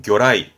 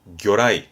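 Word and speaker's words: 魚雷: 어뢰, 발음은 교라이, 교라이.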